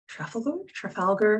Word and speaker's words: Trafalgar: down to london in trafalgar i don't even know if i've said that right british names i'm such a minefield um trafalgar no you said it right yeah our stance